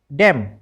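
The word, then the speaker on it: damn: पढ़ना कॉलमन नहीं पढ़ना डेमन नहीं पढ़ना ठीक है क्योंकि एन तो साइलेंट है अब बात कर लेते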